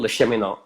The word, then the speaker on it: Le Cheminot: Next week, I'm going to be chatting with Phil Le Cheminot, who is a French name. I think that's the way you pronounce it. He did try to tell me, and it's Phil Le Cheminot.